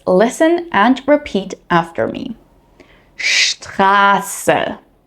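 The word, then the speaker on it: Straße: In German, when ST or SP appear at the beginning of a word or a syllable, they are pronounced with a sh sound.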